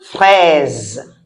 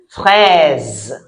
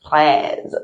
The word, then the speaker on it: fraise: See how I said it? Une fraise. Fraise. Okay. It's an R, but how it sounded is a bit different. Your tongue should not roll. If you can't do it, you can just say fraise. That's also correct.